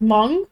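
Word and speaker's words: Hmong: very for normal uh he's M which is which is spelled h m o n g um kind of derives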